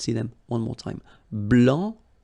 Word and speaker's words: blanc: So here, masculine, blanc, don't pronounce the final C, and then blanche, okay?